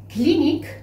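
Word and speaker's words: klinik: Clinique, c'est clinique. Ça se prononce de la même manière, mais ça s'écrit avec un « k » ici et un « k » à la fin.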